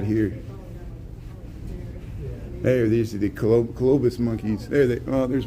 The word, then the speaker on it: colobus: So black and white colobus monkeys. I used to call them Columbus monkeys, but I said it wrong.